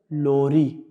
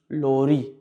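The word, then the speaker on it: lorî: So how do I pronounce that? Lori. Lori. Lori means lullaby.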